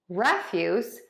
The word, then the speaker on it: refuse: We typically stress most all of the time syllable number one in the noun and syllable number two in the verb. So that's very common in two-syllable noun and verb heteronym pairs.